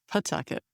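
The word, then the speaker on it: Pawtucket: Out of Pucket, Pucket. Uh, Pucket. Silent W.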